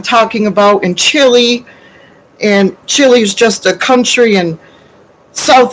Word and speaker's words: Chile: about in Chile, and Chile's just a country in South America, and I say, Aunt Bob, it's pronounced Chile, first of all.